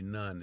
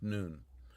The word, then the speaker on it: Nun: A lot of people see it spelled in English, N-U-N, they'll say none. It's not none, it's noon.